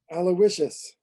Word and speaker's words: Aloysius: There are a couple of people, actually one person would like to hear one of you guys pronounce Pendergast's first name. Go ahead, Doug. Aloysius.